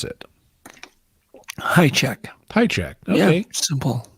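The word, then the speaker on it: Hajicek: Just so I hear it from the horse's mouth, how do you pronounce it? High check.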